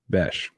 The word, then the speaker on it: Bech: contain uh Jack bash I've been saying his name wrong a week apparently it's Jack bash and he is really